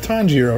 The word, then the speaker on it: Tanjiro: dark tom giro i think that's is it tanjiro right is that how you say it yeah